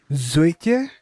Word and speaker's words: Zoetje: Zoetje? I don't know. Whenever I see the J-E, I think Dutch, and I try to do Dutch pronunciation, but my Dutch pronunciation is really bad.